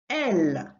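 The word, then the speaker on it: elles: L, again without pronouncing the S, and it's they, but this time for a group of females. Elle, elle, elle.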